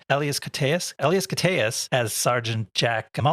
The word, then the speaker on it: Elias Koteas: Elias Koteas.